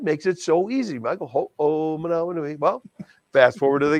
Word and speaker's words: Ho'omanawanui: He says, Michael Ho'omanawanui. Ho'omanawanui. God, that makes it so easy, Michael Ho'omanawanui.